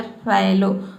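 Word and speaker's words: fallow: Double L आया है, लेकिन यहाँ पे हम इसको ओ नहीं पढ़ रहे हैं, यहाँ पे क्या पढ़ रहे हैं, आई पढ़ रहे हैं, तभी इसका प्रोनाउंसिएशन हो रहा है फैलो।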